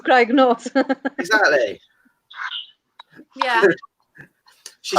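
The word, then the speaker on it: Craig-y-Nos: How do you say it, Vicky? Craig and North. Craig and Noss. She says it better. She says it better, Dan. Yeah, but she's Welsh. So it's Craig and North.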